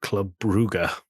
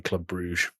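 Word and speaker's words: Club Brugge: Um it's like the club in the city of Bruge uh is spelled Club Bruge, but actually the locals call it Club Buger. And apparently they get very annoyed if you say Club Bruge.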